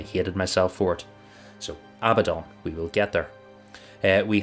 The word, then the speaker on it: Abaddon: in the audiobook because I am about to say a bad a badon I thought it was Abaddon Abaddon Abaddon that's it because I go to say about him but it's Abaddon yeah that's because I